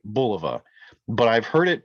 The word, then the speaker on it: Bulova: Bulova actually pronounced and I feel like I'm pronouncing it right Bulova but I've heard it pronounced all different kinds of ways buluva uh below Bulova whatever you know insert your